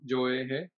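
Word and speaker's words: 聶衛平: He's probably well known by the Japanese pronunciation of his name also, Joehe, just because the Japanese, at that time in history, they were still pretty central in Gon.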